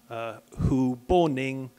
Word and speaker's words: Hu Boning: So they changed it to Hu Boning. So Hu, like President Hu Jintao, Hughes, Hu, sort of same then. Boning sounded a bit similar to Bernie, so off we went.